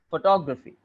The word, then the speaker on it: photography: two things to take care of. First of all, the last one would be not graphy. It would be graphy. Graphy. Very, very short. And the word, the syllable before it would be is stressed.